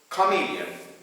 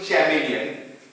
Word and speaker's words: chameleon: This is the chameleon. Usually people read this one chameleon, but the correct pronunciation is chameleon.